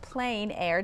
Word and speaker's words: plein air: You know, it's spelled P-L-E-I-N, but pronounced Plein Air. Tell us what this title means and how it relates to the festival. Sure. Well, the term Plein Air is a French term,